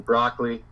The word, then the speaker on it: Brockley: yeah, it's basically the same like I was saying broccoli. So that's my name, broccoli. Yeah. If you're if you want to really get specific, then there's your difference, 3 syllables versus two.